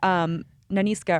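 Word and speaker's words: Nanisca: You're like, oh, you're rooting for Naniska, or I pronounced it correctly. Yeah, correct. The Viola Davis character. Naniska, you want her.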